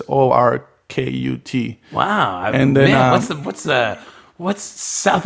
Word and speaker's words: Orkut: So he discovered plenty of fish, or this other Brazilian website called Orkut, or Orkut, how they say it in Portuguese, but it's Orkut.